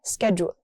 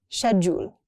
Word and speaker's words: schedule: The next one is really interesting because it has two pronunciations. In the US we say schedule. In UK people say schedule.